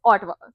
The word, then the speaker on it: Ottawa: from the States or outside will say Ottawa. Ottawa. Yeah, I've grown up knowing it as Ottawa. Correct, but it's Ottawa.